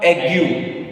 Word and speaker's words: aigu: So this word ends with a vowel U. So we have to pronounce this U. So it becomes ague. So accent aigu, accent aigu, accent aigu, accent aigu, accent aigu.